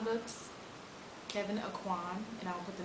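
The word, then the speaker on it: Kevyn Aucoin: know reading about so Kevin auan books Kevin aan and I'll put the name on the screen because it's not spelled the way it's pronounced for sure and Iman I in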